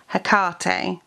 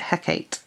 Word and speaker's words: Hecate: we've got hades now this is one that you can pronounce more than one some people pronounce it hakate and some people pronounce it hecate yeah half hips i